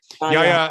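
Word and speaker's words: Yahya Abdul-Mateen II: This movie stars help me pronounce Yahya. Okay. Yahya Abdul Mateen the second, Tiana Paris, a queen.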